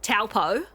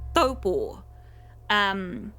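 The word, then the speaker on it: Taupō: white people, pronounce it taupo. It's not pronounced that. It's a Māori word, and it's pronounced taupo. So the T is a soft T.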